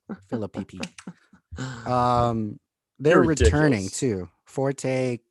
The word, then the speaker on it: Phillippe: picky philip philippe ryan phillippe i like i like yours more that's what he is i mean you gotta pronounce both p's phillippe um they're returning too